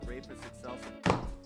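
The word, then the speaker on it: Rhapis excelsa: Today we're going to talk about caring for your rapus excelsa. Okay, that is how it's pronounced.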